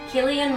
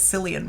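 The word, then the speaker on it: Cillian: Paul Giamatti the holdovers Killian Murphy Oppenheimer Jeffrey Wright American fiction okay we can talk normally now I never knew that it was Killian Murphy I always thought it was San Murphy Oh know that's like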